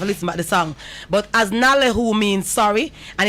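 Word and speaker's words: አዝናለሁ: what but i've listened to the song but as nalehu means sorry and it's spelled a s n a l e h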